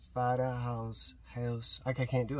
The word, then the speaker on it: Garen Huis: Vaderhuis. So it's in Dutch. Just try it. Vaderhuis. Vaderhuis. House. Okay, I can't do it. I'm not sure. Vaderhuis.